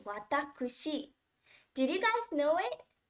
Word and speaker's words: 私: is usually pronounced as watashi right but the official reading for this kanji is actually watakushi did you guys know